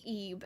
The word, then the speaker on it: Ib: And then I played Ebe, and I really like Ebe. So it's just like IB. That's how it's spelled. It's like Ebe.